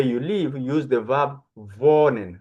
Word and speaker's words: wohnen: To talk about where you live, use the verb wohnen. Remember, I told you W is V. Wohnen.